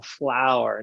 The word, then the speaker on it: flwr: everything pronounceable um i remember when you wanted flower f-l-w-r i'm like i look at it i look and i go oh flower now i get it um well you you